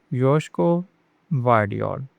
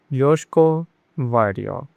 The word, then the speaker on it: Josko Gvardiol: The G in Gvardiol is kind of silent, so it is Josko Gvardiol. Josko Gvardiol.